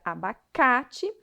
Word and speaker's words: abacate: de maneira mais intensa na palavra abacate a sílaba tônica é a sílaba cá a palavra sobre a